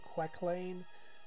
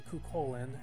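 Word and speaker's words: Cú Chulainn: of the summons too the one they keep on calling quecklane is really kukolin and that's how you pronounce it uh he's a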